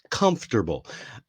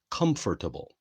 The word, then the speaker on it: comfortable: It's not hard to pronounce, but many people want to say comfortable, comfortable. But in American English anyway, we pronounce it comfortable, comfortable.